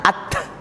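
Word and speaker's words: ت: tadi ini ba sekarang Ta bacanya ahah at ya bunyinya th Ya bukan jangan ditambah S nah at ya lidahnya di atas kalau S lidahnya dig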